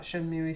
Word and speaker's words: Shenmue: It's Shenmue.